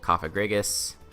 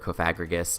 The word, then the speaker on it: Cofagrigus: He has Kieran Black, Excadrill, Tangrowth, Gardevoir, Mega, Rotom Wash, Salazzle, Cofagrigus, or Cofagrigus, depending upon how you like to pronounce it, Aerodactyl, Alolan Persian, I kind of stumbled that one, Gligar, and Primate.